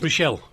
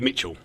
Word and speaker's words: Mitchell: Who's Mitchell? That's Michelle. Ah. Then he got upset with me because I pronounced it all wrong. Oh, right. Is he called Michelle? No, it's really Mitchell.